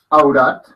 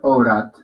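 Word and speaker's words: औरत: Yo puedo decir aurat y estoy diciendo mujer, o puedo decir aurat, con una O pequeña como AO, aurat, y también estoy diciendo mujeres, simplemente que varía un poco la pronunciación.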